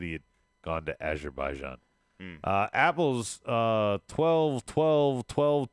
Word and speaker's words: Azerbaijan: John I was closed I forgot one of the syllables Azerbaijan Azerbaijan yeah one of my